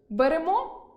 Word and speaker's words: беремо: Беремо – берете, веземо – везете, несемо – несете, ідемо – ідете. Перша особа множини (ми) з наголосом на -о та друга особа множини з наголосом на останнє -е.